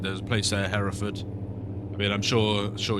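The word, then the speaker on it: Hereford: So yeah, it's just interesting cuz like I said, there's a place there Heraford. I mean, I'm sure sure you American folks probably pronounce it here, Ford or something like that, but Heraford is how we we pronounce it in in our country.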